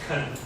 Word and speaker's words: can: it it is pronounced come and it sounds like a last syllable of bacon or Mexican the vowel in can